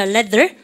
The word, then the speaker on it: leather: 이 레자 그러면 혼나죠. 발음을 갖다서 leather. 레자는 일본 애들이고요. th 발음 못해서요.